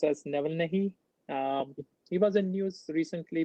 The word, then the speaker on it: Navalny: I guess his name is pronounced as Navalny.